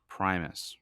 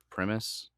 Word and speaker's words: Primus: me if I'm wrong I think it's Primus right or premise um they kind of how do you say the name Primus it's Primus you were right the first time yeah um I kind